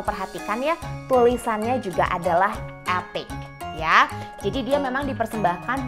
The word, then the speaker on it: Epoch: Seperti kita tahu namanya adalah Epic Polishing Bar ya. tulisannya tuh epoch ya, bacanya epic, oke?